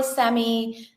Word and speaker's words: Sami: So just type my name correctly, spell it right. S A M I Sammy Sammy.